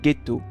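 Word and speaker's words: getto: de la fonderie et fonderie dans le vénitien de cette époque ça se prononcer ghetto flairant le bon coup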